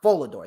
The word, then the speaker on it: Volador: v v or vad Jr how do you pronounce his name um volador volador there you go volador Jr haiiro or H